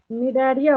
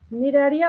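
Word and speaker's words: Cnidaria: Second position पे आपको देखिए निडारिया होगा लिखा हुआ, यहाँ पे सी साइलेंट होता है, ठीक है। निडारिया और सिलेंट्राटा, देन टीनोफोरा, देन प्लेटीहेलमिंथस।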